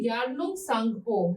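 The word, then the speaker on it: Yarlung Tsangpo: में कहा जाता है यारलुंग सांगपो। ये टी साइलेंट है, ठीक है, तो क्या बोलेंगे इसे? यारलुंग सांगपो बोला जाता है।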